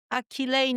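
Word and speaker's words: Akileine: Akilain no. Yes. Can you spell that?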